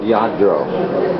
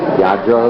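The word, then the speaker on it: Lladró: This is called Yadro. Yadro, the way it's pronounced, and these are very famous.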